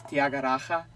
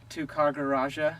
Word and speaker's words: Tyagaraja: came out like this: Tyagaraja, Mr. Tyagaraja. Yeah. So the roll of the R is most difficult for the Western tongue, but yeah, other people have said. They pronounce it phonetically by saying Tyagaraja.